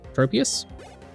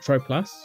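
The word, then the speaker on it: Tropius: it's like Prius but without the art tro tropus not trop plusus people pronounce it tropas really and it's most definitely trops okay that's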